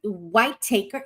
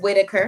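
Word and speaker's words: Whittaker: Uh, W White Taker. Is it Whitetaker? Is that how it's pronounced? Whitaker. Whit Whitaker. Okay.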